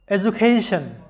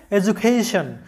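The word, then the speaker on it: education: শব্দটার সঠিক উচ্চারণটা হবে এডুকেশন, কারণ ডি এর আগে ই এবং পরে আছে ইউ, অর্থাৎ ডি এর আগে ভাওয়েল এবং পরেও ভাওয়েল, তাই ডি এর উচ্চারণটা জ এর মতো হবে, এডুকেশন।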